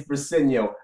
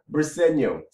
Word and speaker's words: Briseño: And Eagle Speed, it's Briseño. I just made a video the other day about how to pronounce the guy's name. This is not that difficult. It's not that difficult. Briseño.